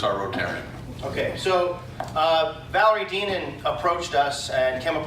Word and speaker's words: Deneen: Deneen. Deneen. Like lean, mean, Deneen.